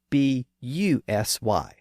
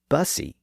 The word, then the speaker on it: busy: Notice that the word busy is spelled B-U-S-Y, but it's not pronounced bussy, it's pronounced busy, like it should be spelled B-I-Z-Y.